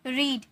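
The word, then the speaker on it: read: Slapped, spoken, exercise, walked, watched, eaten, रीड। इसे रीड नहीं रेड में प्रोनाउंस करेंगे। ओके? यह वी3 है। इसीलिए फर्स्ट फॉर्म में रहता है तो रीड, second form रेड, third form भी रेड।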